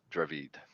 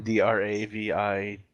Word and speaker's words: Dravid: d a d i i just call it dravid i just say i i just pronounce it dravid you know drive head right you have a speech